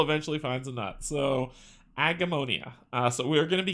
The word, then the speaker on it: Agemonia: Today we are getting into Agemonia. That is how you pronounce it. Took me a minute, but I got there, right? Even a blind squirrel eventually finds a nut. So, Agemonia.